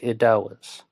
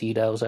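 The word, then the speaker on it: Eddowes: elizabeth stride and kate idawes i got i think it's pronounced eedows actually but um there she would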